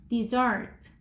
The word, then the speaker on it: dessert: dessert 얘는 dessert 이렇게 읽어.